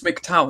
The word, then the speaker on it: MGTOW: Like it's Mkttow, not Mikto or whatever.